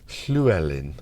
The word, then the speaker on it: Llewellyn: Llewellyn." I should say it like the Welsh, shouldn't I? Being half Welsh that I am.